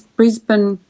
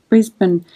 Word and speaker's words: Brisbane: Some Americans pronounce Brisbane, which is how it's spelt, but Australians usually just say Brisbane.